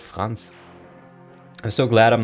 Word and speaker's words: Franz: It's Franz. Well, in German you would pronounce it Franz.